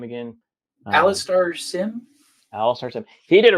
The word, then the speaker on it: Alastair Sim: How do you pronounce his name again? Uh, Alastair Sim?